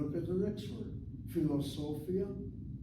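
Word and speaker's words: פילוסופיה: Philosophia has 5 syllables, and syllable number 3, so, is accented.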